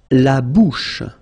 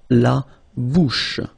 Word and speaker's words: la bouche: La bouche. So remember, C-H combined together will give you this sh sound. La bouche.